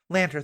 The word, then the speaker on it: Lanter: I want to say Matt Latner, is how you pronounce it? Lanter, thank you.